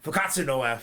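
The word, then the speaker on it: 復活のF: Fukatsu no F.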